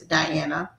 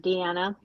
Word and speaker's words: Diana: So the first question is Diana, how long how did you get into writing and why did you choose that path? Okay. Hi everyone. Um just a quick correction. My name is pronounced Deanna, but not to worry